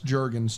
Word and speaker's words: Jurgens: says panda is right it's Jurgens two people say it's Jurgens hard G hard G Jurgens Jurgens so everyone says